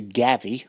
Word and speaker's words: Gavvy: It was later shortened to Gavvy, which rhymes with savvy.